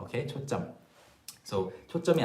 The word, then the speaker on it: 초점: So yeah, the pronunciation is 초점, okay, 초점.